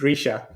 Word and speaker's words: Reeesha: you And know, my name Czech is Risha. So to help you pronounce it, I wrote it with E's, because that's how you pronounce a long I in Oh, Czech.